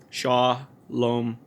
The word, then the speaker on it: Shalom: just want to say sha luck Shalom sha loam so it's accurately pronounced here I have a